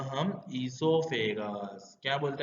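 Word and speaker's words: oesophagus: यहाँ पे ईसोफेगस मैंने बोला, कई लोग ओ लिखते हैं, कई लोग ओ नहीं लिखते। Basically O is silent. ओ कैसा है? साइलेंट है, इसलिए उसको एसोफेगस भी बोल सकते हैं, ईसोफेगस भी बोल सकते हैं।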